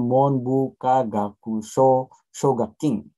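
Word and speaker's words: Monbukagakusho Shogakukin: Tapi bacanya Monbuka Gakusho Shogakin.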